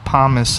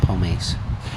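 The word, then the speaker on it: pomace: I don't know what dried apple pomus is. Probably like mashed apple. Yes. Okay. Pummus. Pomus. Pomus. How you spell it? P O M A C E. Oh, pomise.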